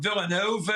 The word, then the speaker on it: Villanova: American from Chicago, from Villanova, as we say in Philadelphia with an accent on the O.